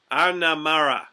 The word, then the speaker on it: Winanjjara: Winanjjara, is that right? Yeah, the emphasis on the R. Mara. Winanjjara.